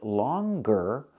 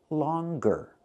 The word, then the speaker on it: longer: say singer but with the word longer we pronounce the G longer so singer there's no G longer there is the G sound so what's the difference